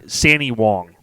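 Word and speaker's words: Sandee Wong: your last name right so can you pronounce it for me or do you want me to say it you go first see sandy wong perfect see so it's s-a-n-double-e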